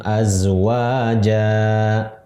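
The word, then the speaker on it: أزواجا: Misalnya lagi, wa khalaqnakum azwaja. Ya, dibaca ja bukan jan karena berhenti, gitu.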